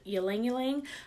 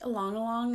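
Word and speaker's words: ylang ylang: only yell yelling yelling so it could be pronouncing the yelling yelling I've also heard along you long and I think along along is truly technically the right way to say it but yelling yelling is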